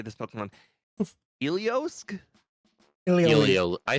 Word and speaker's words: Heliolisk: Heliolisk? I say Heliolisk. I say Heliolisk, but Heliolisk I guess would be also accepted. Yeah, if you look after the Helio, there's an L, so it's Heliolisk.